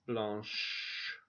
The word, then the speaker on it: blanche: Blanche, şurası ş okunuyor Fransızca'da.